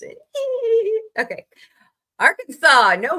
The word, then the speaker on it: Arkansas: Per the state code, the only acceptable pronunciation is the 3 syllables with the final S silent and the A in each syllable with the Italian sound and the accent on the first and last syllables.